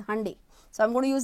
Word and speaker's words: Hyundai: have heard people say Hundai I have heard people say Hundai and I have few friends of mine who have visited Korea and they told me the actual pronunciation is Hyundai so I'm going to